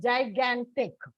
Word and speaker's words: gigantic: So when you pronounce, if you notice, gan is pronounced a little more stress is given on gan.